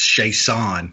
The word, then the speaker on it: Chiasson: It's Chiasson, I believe is how you pronounce her name.